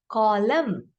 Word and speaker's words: column: So let's see which consonant is quiet in the word when I say column. N is silent.